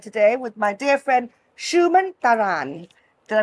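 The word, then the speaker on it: Suman Tharan: on my daybed today with my dear friend Shuman Taran. Did I pronounce it properly? Yes, that's about right. Shuman Taran.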